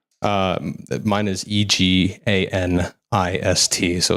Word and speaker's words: eganist: Uh mine is E G A N I S T. So it's pronounced eganist.